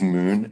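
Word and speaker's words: Moune: you repeat the name his name is Moon and it's it's spelled m o u n e okay I will keep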